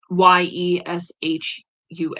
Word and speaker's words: Ieschoua: It is called Yeshua, and it's not spelled Yeshua. It's spelled Ieschoua, Yeshua, Grand Architect of the Universe by Christian Rebis.